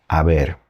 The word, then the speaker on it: haber: And the verb that we use in Spanish for that is haber. Starts with an H, but the H is silent.